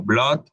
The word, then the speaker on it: blood: como en palabras como Blood que se escribe con una doble o pero se pronuncia como una O Blood es sangre o